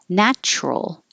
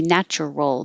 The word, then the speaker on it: natural: Natural. It looks like it could be natural, but we make it shorter, drop the middle syllable, and make it natural.